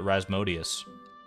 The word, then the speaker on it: Rasmodius: it's it's Mozart's middle name how do I pronounce the Wizard's name in stardew stardew Valley his name is uh rasmodius I just call him Razzy though I'm